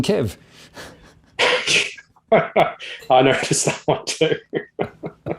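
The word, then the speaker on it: Kyiv: reeling on the fact the old chicken kiev is now chicken kev i noticed that one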